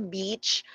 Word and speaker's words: beach: pa sheep Okay so lalo na dito sa beach iwasan nating maging short eye siya ano Yung